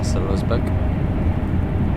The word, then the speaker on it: Würzburg: That's how you say it, Würzburg.